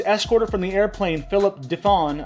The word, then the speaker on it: DeFawn: The man who was escorted from the airplane, Philip DeFawn, I think the N is silent, but let's just go